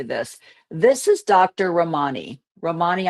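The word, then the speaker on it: Ramini: Romani, I think is how it's pronounced. R A M I N I. Romany, maybe.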